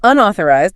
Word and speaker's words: unauthorized: and unauthorized. That O sounds like a in ball or call.